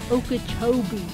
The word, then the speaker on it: Okeechobee: Okeechobee.